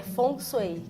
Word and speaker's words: Feng Shui: Que o Feng Shui, na verdade, é Feng Shui ou... Na verdade, a pronúncia correta em mandarim é Feng Shui, que significa vento e água.